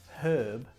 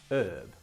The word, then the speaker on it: herb: In Britain we say herb, and in America they drop the H and they say herb.